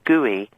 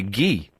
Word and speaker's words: Guy: and call them gooey because they'd seen they'd seen they'd seen the the name written down guu Y and they thought it was gooey gooey yes how would you how could you mispronounce guy uh because they're stupid presumably well although of course the French say ghee oh well they're even